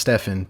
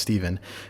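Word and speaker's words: Stephan: My name's Steven, spelled with a PH and an A, so it should be pronounced Stefan, but it is actually pronounced Steven.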